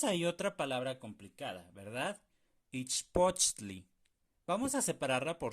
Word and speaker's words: ichpochtli: Ichpochtli. Vamos a separarla por sílabas. Ich, poch, tli. Tli. Bien importante que sea T-L-I, ¿de acuerdo? Tli. Ich, poch, tli.